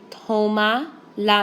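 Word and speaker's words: tómala: say take it tomala notice I count back three vowels and I put my accent on the o ok so go back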